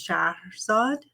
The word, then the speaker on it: Shahrazad: My full name is Shahrazad. You might have heard it as Shahrazad, the storyteller, the 1001 Nights.